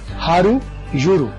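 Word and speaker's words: how do you do: اس کو عام تلفظ میں ہم بولیں گے high ہاؤ ڈو یو ڈو, جیسے یہ لکھا ہوا high ہاؤ ڈو یو ڈو. لیکن جب اسے درست تلفظ میں کوئی انگریز بولے گا تو اسے بولے گا high ہارو یورو. ہاؤ ڈو یو ڈو اس کو ہم عام تلفظ میں بولا ہاؤ ڈو یو ڈو, اور درست تلفظ میں ہارو یورو.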